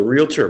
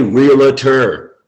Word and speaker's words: realtor: estate agency, not a realtor, it's not a 3-syllable word, right, Mike? Realtor or realtor, whichever one you prefer, tell me, and I'll address you that way. Okay, but it's not realtor.